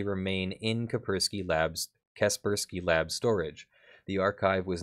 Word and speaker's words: Kaspersky: you go to the Caprice key virus lab for further analysis Oh Kaspersky thank you well I bet that's bothering some people Kaspersky that's is that is it the correct pronunciation thank you upon analysis